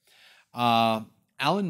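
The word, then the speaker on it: Alain: name sounds familiar, but it's not Alan or Elaine. They pronounce it Alan, but it's spelled A-L-A-I-N.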